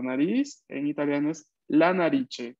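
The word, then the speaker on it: narici: La nariche. La nariche. Recordemos que la C se pronuncia siempre ch en italiano.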